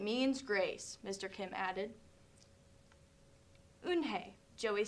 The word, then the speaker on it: Unhei: then to joey she nodded silly yes it's pronounced unhei and it means grace mr kim added unhei joey said slowly and this time perfectly it